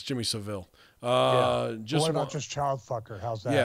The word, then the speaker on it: Savile: your pronouncing of Jimmy Savile 's name is wrong it's pronounced like the word savvy so pronouncing salve ol